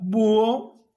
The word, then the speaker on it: búho: búho si no hubiera si no hubiera sido tildada esta palabra sería wow oh se pronunciaría voz por lo tanto no habría ruptura y todo esto sería una sola palabra y por qué y en consecuencia sería un monosílabo no pero en este